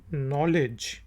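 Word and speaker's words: knowledge: बाद वह है जी के एन ओ डब्ल्यू LED नॉलेज नॉलेज इनको कहते हैं कि साइलेंट है नॉलेज ओं हुआ था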